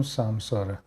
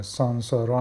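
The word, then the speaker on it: संसार: تولد مرگ باز تولد داره به این میگیم سمساره به این چرخه تولد مرگ مرگ مرگ باز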